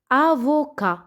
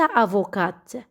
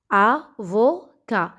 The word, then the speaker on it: avocat: الآن محامي باللغة الفرنسية avocat ليس avocat. avocat. تي في الأخير لا تنطق.